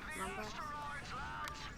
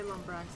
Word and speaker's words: Lombax: Because we're a Lombax ship. Right? Yes. Yeah. One back ship. Yes, that's what I said. Lombax? I keep wanting to say Lombrax, that's why I have to ask them.